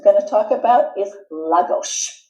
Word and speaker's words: Lagos: Another place we're going to talk about is Lagos, and that's the way it's pronounced. It's not the way it's written.